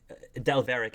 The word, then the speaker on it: Delvaric: game uh where did del varick is how you pronounce his last name right that's right his name his whole